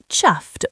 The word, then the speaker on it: chuffed: Pronunciation rhymes with puffed, but with ch sound. Chuffed, almost like chuffed in rapid speech.